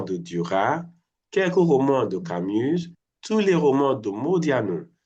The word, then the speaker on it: Camus: Camus, Yes, it's Camus. a noun. C'est un nom propre. C'est pas un noun. Can you say aucun? Aucun. Aucun. Donc, j'ai lu plusieurs romans de Duras, quelques romans de Camus, tous les romans de Modiano.